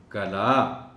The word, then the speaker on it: قلعہ: اس لفظ کا تلفظ، اس میں عین کو ظاہر کر کے پڑھنا ہے۔ سو لفظ ہے کلا، کلا، کلا۔ یہ دیکھو